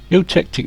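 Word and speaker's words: eutectic: And it's well utic. Utctic. That's how you pronounce it.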